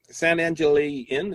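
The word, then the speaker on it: San Angel Inn: So I went for dinner at San Angeli Inn. Is that how you pronounce it?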